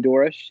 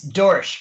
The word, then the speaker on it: Dorosh: that's and Doris is that how you pronounce always I always mix up your last name how do you pronounce your last name it's Dorsch one one syllable Doris I said it